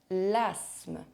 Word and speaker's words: asthme: And there are also sometimes random silent consonants inside words. Here are the most common ones. En automne. L'asthme.